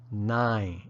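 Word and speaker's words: နိုင်: sound where that final n is barely discernible 9 now let's look at how to place it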